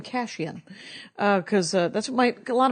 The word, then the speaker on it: Kashian: my sister that it was actually pronounced cash in or khushiyan or whatever the it